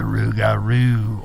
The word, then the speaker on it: rougarou: The creature of the rougarou or loup-garou. I've seen it and heard it pronounced as both so far.